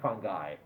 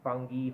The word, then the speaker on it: fungi: That's my favorite pronunciation, fungi. But you can hear fungi, fungi, fungi, fungi, yeah?